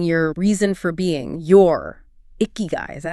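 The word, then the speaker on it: ikigai: state and finding your reason for being your icky guy. Is that how you say it? Icky guy.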